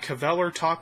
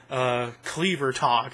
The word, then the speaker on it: Kvelertak: Number 19, we've got Kvelertak with Natsford. I pronounced the name of the band right this time instead of Kvelertak, as I called them in the review.